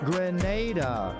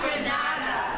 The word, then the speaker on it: Grenada: Grenada. Say it right. Grenada. That's right. Grenada. There we go. Say it right. It's Grenada. It's not Granada. It's Grenada.